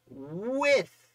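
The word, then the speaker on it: Wythe: And the answer is with. The answer is with. Not wife. I used to pronounce it wrong, and boy, did I get a lot of trash talk on that video. It's with.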